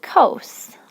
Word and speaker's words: cos: in the abbreviation c-o-s you say cos like coast but without the t cos or like a roller coaster and then for tangent